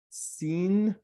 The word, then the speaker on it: sin: You see here, the dot is the left side is sin. You pronounce it as sin. But if it's on the right side, you pronounce it shin.